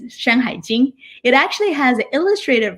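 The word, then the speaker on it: 山海经: In Chinese, it's pronounced as Shanhai Jing.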